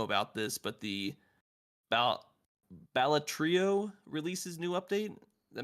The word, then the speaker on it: Balatro: this, if I'm not mispronouncing this Balatrio game, it's got a new Blatro. Joker mechanic. Balatro.